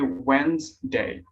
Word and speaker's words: Wednesday: yeah wednesday yeah so a lot of people mispronounce that yeah today so it should be wednesday is that correct right yeah correct silent d right yeah silent t okay